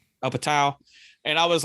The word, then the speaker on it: Apatow: Judd Apatow movie Whatever how do you sound his damn last name Judd Apatow up a towel and I was like